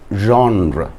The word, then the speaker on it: genre: sonnet hearing or writing sonnets as a poetic genre g e n r e genre that is the right pronunciation for the word g-e-n-r-e so uh sonet